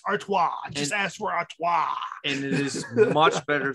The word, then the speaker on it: Artois: anything like that it's artois just ask for auto and it is much better than expected and